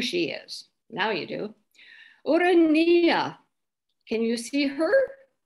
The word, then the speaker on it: Urania: muse of astronomy she that urania is the classical greek pronunciation here she is in